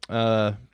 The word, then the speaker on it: Aech: How Like, did they spell H? AECH. Interesting. if you would have paid attention to the end of the movie, there was a sign that said "Go H," Nice. spelled like that.